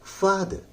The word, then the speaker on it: father: फा पर जोर लगाइए, द कहिए, आर को ना साइलेंट कर दीजिए, उस पर जोर नहीं लगाना है, इसलिए हो जाएगा फादर।